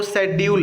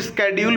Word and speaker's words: schedule: तो यहाँ पर जो सही स्पेलिंग है वो शेड्यूल है। कुछ लोग इसको स्केड्यूल भी पढ़ते हैं, लेकिन एक्चुअल में इसको शेड्यूल पढ़ा जाता है, जिसका मतलब होता है समय सारणी या कार्य योजना।